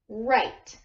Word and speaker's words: write: there sandy okay so the W is silent and the R makes it sound so this word is pronounced right okay let's tap it